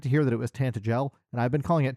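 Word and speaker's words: Tantegel: voiced, I got to hear that it was tantel. And I've been calling it tantagel my entire life. And that's me too. And I don't like the the the soft G in tantel.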